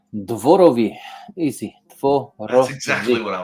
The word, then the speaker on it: Dworowy: and to be here okay so I I butchered your last name how do you say your last name Dori easy that's exactly what I was gonna say